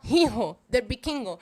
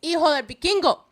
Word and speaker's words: Hijo del Vikingo: Please, Hijo, do not pronounce the H. It is not Hijo del Vikingo. It is Hijo del Vikingo.